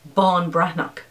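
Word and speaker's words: Ban Breathnach: or n e a c h and it's pronounced sarah bon brannock and it is a book about finding something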